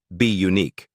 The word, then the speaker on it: Bunique: In 2013, she launched a modeling and talent agency called Bunique, pronounced be unique, which focused on nurturing emerging talent while remaining rooted in family and community.